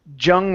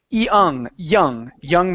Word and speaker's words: young: Same situation here with a Y at the beginning. So instead of young man, it's young man.